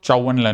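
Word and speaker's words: Zhou Enlai: Okay, तुम मतलब pronounce करोगे तो चाओ एनलाई बोलते हैं, मतलब लिखोगे तो, बट वो जाओ एनलाई था.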